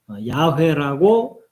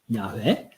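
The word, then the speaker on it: Yahweh: 예, 이게 이제 이 정확한 발음은 누구도 모르는데 이제 우리가 일반적으로 야훼라고 발음하는 그 이름이에요. 야훼.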